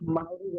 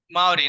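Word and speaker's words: Māori: ওকে, এখন মাউরি বলা হয়, মাউরি। মাওরি না, ওকে, good, thank you so much.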